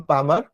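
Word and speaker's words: palmar: হাতের তালু, হাতের তালু পাম পামার, হাতের তালু হচ্ছে পাম পামার, এখানে এল এর উচ্চারণ উজ্জ্ব থাকবে, হ্যাঁ, পাম পামার।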